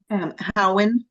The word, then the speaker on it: Howard: And I keep wanting to call it say, but how you pronounce that last name again, ma'am? Howen, Howard.